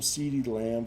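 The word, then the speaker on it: CeeDee Lamb: let's look for some seedy lamb for some value i like how when you say his name it sounds like you're saying cd like who doesn't like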